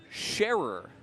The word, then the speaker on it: Sharer: Uh, excuse me, Craig Sharer is how it's properly pronounced. S ce rer sharer.